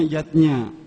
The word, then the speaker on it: yajna: lima macam selametan zatnya tulisannya yajna ayah bunda tapi membacanya yatnya yang pertama adalah dewa